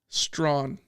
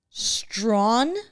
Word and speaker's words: Strawn: Strawn. Strawn? Strawn. Strawn. Prince Strawn. Prince Strawn. Mm-hmm. Like straw with an N on the end.